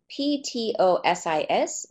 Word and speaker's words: ptosis: is something called ptosis and it's actually spelled pto sis but it's but it's pronounced ptosis and what it basically means is